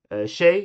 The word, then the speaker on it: tjej: Tjej is girl. Tjänst is like service. 20 is 20. They all start with TJ. Next one. These are all pronounced like the Swedish J.